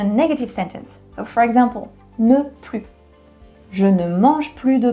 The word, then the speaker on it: plus: But there is a second situation where you don't pronounce that S. It is before an adjective. So for example, plus grand, you don't pronounce that S.